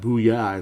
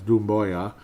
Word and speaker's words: Doumbouya: It's not Booyah, it's Doumbouya. Doumbouya tweeted that yesterday was scheduled to be his.